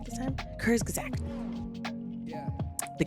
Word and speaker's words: Kurzgesagt: use- Okay, so this video is by Kurzgesagt. Okay, y'all help me again, please. I have the hardest time saying the name of this. Kurzgesagt. Did I say it right this time? Kurzgesagt.